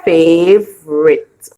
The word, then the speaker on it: favorite: The U is silent, so we hear Fave, and it. And the E is silent, so we say favorite.